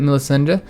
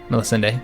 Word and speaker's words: Melisende: As she's growing older, I can see that Melisende, I think that's, yeah, Melisende, that's how I'm going to pronounce it, could use some guidance in some of my experienced areas.